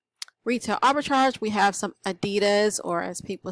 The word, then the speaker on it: Adidas: Arbitrage we have some Adidas or as people say you're supposed to say Adidas but I am from the south so I am not going to pronounce it that way but it was an